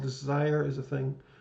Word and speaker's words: Desire: I just love that in New Orleans, a district called Desire is a thing. Though in Louisiana, it's pronounced something like Desiree.